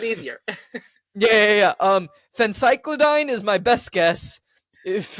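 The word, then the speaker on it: phencyclidine: so the quick search says that it's a Fen cycline I have no idea if I'm pronouncing this right yeah yeah well it's okay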